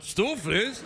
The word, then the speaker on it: stoofvlees: Stoofvlees?